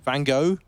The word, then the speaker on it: Van Gogh: Van Gogh.